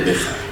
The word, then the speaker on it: Bexar: Condado de Béjar. Bueno, empezamos con la segunda, que es más fácil. Es el condado de Béjar. O sea, la X se pronuncia como J.